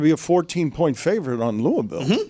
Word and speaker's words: Louisville: But I Louisville. They they take exception to this. Louisville. One syllable. Louisville. Maybe two.